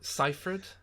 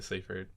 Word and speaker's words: Seyfried: Seyfried?